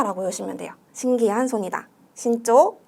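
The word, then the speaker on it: 慎重: 여기서 신난다고 여러분 신주 골라주시면 안 돼요. 이때 신중할 때는 주가 아니라 초로 발음이 되는 예외로 초로 발음해 주셔야 되는데, 요거 주가 아닌 초로 발음되는 것들 두 가지 더 가져갈게요.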